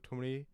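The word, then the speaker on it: thumri: So semi-classical music becomes tumri or tumri. Tumri is the right pronunciation.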